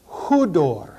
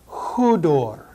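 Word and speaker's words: ὕδωρ: Hudor. Notice the rough breathing. Hudor.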